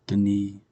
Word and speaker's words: Denis: I first saw his name or I've been pronouncing his name as Denise Villanueva which sounds kind of cool but it's actually the knee villeneuf it's hard to remember that um and